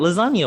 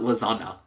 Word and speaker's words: lasagna: It is silent. Lasagna. What part of the? Where do you hear a G in that? it's not lasagna. Lasagna. Yeah, but it's the combination of the G and the N that make that sound.